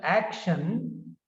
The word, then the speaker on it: action: second one is about so action has two syllables ack and then shun so the first syllable is stressed in the word action first syllable action and